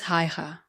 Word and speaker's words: Haigha: His name is Haigha." He pronounced it so as to rhyme with the mayor.